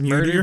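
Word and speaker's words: Muirdor: ready yeah m-u-i-r -d-o-r his name is murder but the eye is silent oh my God nice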